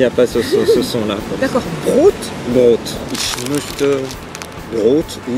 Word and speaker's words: Brot: Tu peux dire ich möchte ein Brot. Brot. Brot, c'est le pain. Ça s'écrit B-R-O-T? Oui. Ah d'accord, parce que s'il y avait un H à la fin, ça fait comme broth.